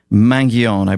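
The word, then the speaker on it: Mangione: this uh killer Luigi mangion I bless that's how you say his name mangioni um ivy league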